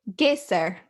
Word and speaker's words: Geysir: And I believe she pronounced it Geysir.